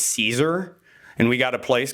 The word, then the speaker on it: Caesar: story of a guy his name was kaisar and his best friend uh Brutus he betrayed him and so now everyone pronounces his name as Caesar and we got a